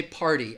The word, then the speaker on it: party: so I would say party again this is another good example of that flap T sound people from the United States are going to use that flap T sound and that